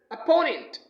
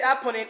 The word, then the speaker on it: opponent: the next word is opponent don't say opponent it is opponent opponent means dushman okay